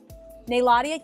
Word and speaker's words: Nayladia: Nayladia? Yes! They said I pronounced it right.